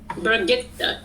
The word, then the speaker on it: Brigitte: If you listen to her voice actress talking about how to say it, she goes Brigitte. Brigitte. Yeah, I never listened to her voice actor. I wouldn't. So not baguette.